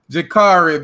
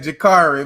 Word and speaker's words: Jacurri: Jacurri, man, Jacurri. My bad, bro. God, I, God. can we talk about this for a second though? So when you pronounce curry chicken, which is basically spelled the same way, Right, Jacurri.